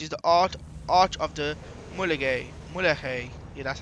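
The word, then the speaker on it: Mulegé: This is race 2, which we have also done in another episode, which is the Arch of the Mulegay.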